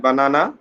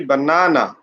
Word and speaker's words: banana: on the second syllable banana the pronunciation should not be like that banana this should be banana you have to put pressure on the second syllable and here you can